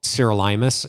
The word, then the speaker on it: sirolimus: So most physicians who know about rapamycin, first of all, it's usually called sirolimus in the clinical world.